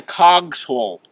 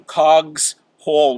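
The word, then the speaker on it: Cogshall: little corner there's a cogs hall which nobody pronounces correctly everybody calls the show but it actually comes from cogs hall which is like a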